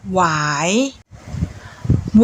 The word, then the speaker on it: หวาย: ไหว้ อ่าน ว่า ไหว้ หวอ ry55 อ่าน ว่า หวาย วอ อา มอ ขาม หวาน อ่าน ว่า หวาน